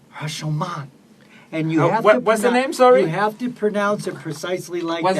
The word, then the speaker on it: Rashomon: No, it's not Rushmore like the mount. No, not Rushmore. It's Roshomon. That's exactly what I Is said.